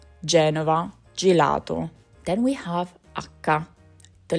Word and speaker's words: gelato: It sounds like g as in go before a or u gate gate and it sounds like j like gel before e or i. Geneva gelato.